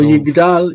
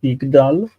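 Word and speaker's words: יִגְדַּל: So Yigdal is an odd one because it's got a patach in the second syllable of that. Yigdal. It's like Yishkav. Normally we would expect a cholam, but there isn't. It's Yigdal and Yilmad and Yishkav. Like, there are certain verbs that take patach in that in the last syllable.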